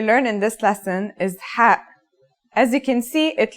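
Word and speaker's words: ح: no counterpart in English it sounds like the sound you make when trying to cool your mouth and throat after eating something very spicy the closest English counterpart to the sound is H the only difference is that it comes from a point deeper down in your throat just like this try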